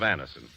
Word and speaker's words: Anacin: Thousands of people have been introduced to Anison this way. Try Anison yourself the next time you suffer from the pains of a headache, neuritis, or neuralgia.